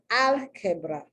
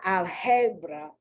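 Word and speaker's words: álgebra: feminine okay once again if this were written in lowercase the ah the first i would have an accent on it because it's it's al quebra it's not algebra so the first ah the first a is uh uh accented and you have to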